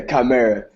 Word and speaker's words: chimera: username how do you say come here yeah chimera yeah it's a piece from Greek mythology okay